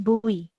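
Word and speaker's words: buoy: Eh bewi eh it's pronounced as boy.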